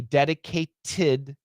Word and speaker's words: dedicated: but with the D dedicated to uh so what we have here is uh uh the dedicate that t becomes a flat t and it says dedicated